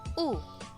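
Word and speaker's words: ㅜ: Next, this one is U. U, it should have a long sound. It is pronounced like the U in the English word soon and moon.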